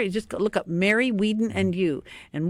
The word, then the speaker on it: Wieden: Wieden and You, and Wieden is W-I-E because I before E except after C. That's right. It's a German name, and I was always saying, well, I-E in German is pronounced E, and it's just a